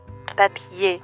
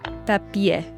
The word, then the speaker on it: papier: Papier. Papier. Not papier, papier.